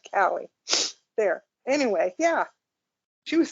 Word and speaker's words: Calle: name's Sasha call Cali she pronounces it Cali there anyway yeah she